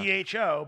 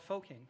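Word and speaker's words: phở: But it's actually the correct pronunciation for that is pho. Pho. Really? Yeah. I would have just called it Foking.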